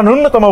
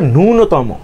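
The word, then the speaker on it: ন্যূনতম: এটা নূনতম এটা তো সবাই তোমরা নূনতম বলো জীবনেও না এটা তো নূনতম এটার উচ্চারণ হচ্ছে নূনতম তো এই বিশেষ খুব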